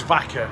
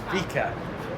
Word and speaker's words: Vica: I thought it was vaca, which is Spanish for cow, basically. Right. It's not, it's Vica.